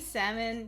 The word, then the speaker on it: salmon: in French mon colel baloney salmon yeah all these weird silent L's um but also uh